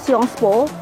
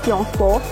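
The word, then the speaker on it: Sciences Po: kampus yang saya mau namanya itu siongvo atau tulisannya science po itu kan files for Tapi bacanya siongvo itu tuh nggak perlu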